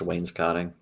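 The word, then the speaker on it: wainscoting: phone or maybe some vintage rotary phone the wasc consing and furnaces look expensive carved oak or mahogany I've never heard it I've never heard that word pronounced Wayne's no it's pronounced Wayne's cotting oh thank Wayne's cotting okay I what is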